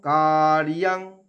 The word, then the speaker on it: কার্যং: সততং কার্যং, কার্যং বলবো না, কার রেফের জন্য অর্ধেক র নিয়ে ইয়াং, অন্তস্তকে সংস্কৃততে ইয়া উচ্চারণ হয়।